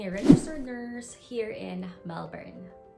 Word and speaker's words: Melbourne: registered nurse here in melbourne or should i say melbourne because that's how they say it here well anyway this first